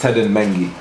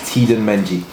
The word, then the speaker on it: Teden Mengi: heard the maddest one so my name is tedan meni okay but the maddest one I've heard is T meni that's that's not it's not too off but I can it's